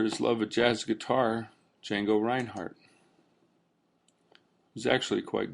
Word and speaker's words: Django: What is Django? Django is a web application framework. The D is silent.